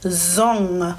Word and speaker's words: zong: So this letter, when you see NG together, this example word is zong. So do you hear at the end in here, ng, right? That it's not an N, not N, and not G.